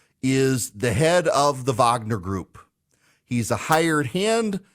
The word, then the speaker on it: Wagner: It looks like it's Wagner, but it's pronounced Wagner, and they've gone to Syria.